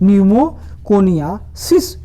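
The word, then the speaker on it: pneumoconiosis: क्या नाम है? न्यूमोकोनियासिस रोग हो जाता है। इसमें पी साइलेंट है।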